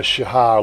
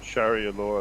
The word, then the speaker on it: Sharia: Shahara, is it? How do you pronounce it? Shahara. Yeah, right. Yeah, Shahara law. That's the only thing I have against Malaysia, right? Just any country that promotes Sharia law, I think it is. Sharia law.